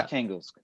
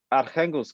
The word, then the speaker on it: Arkhangelsk: In Russian, it's pronounced Arkhangelsk, but in English, I think it's just archangels.